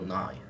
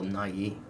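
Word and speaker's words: Nye: Nai the Science Guy no that's Bill NY not Bill Nai I've always pronounced NY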